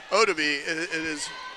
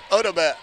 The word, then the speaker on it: Odaba: And I did learn, by the way, it is not Odabe. It was Odaba. And he told me that the one time I heard him that he had mispronounced it.